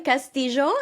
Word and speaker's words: Castillo: industry and a champion for women's empowerment Castillo is that how you pronounced your surname yeah still me but yes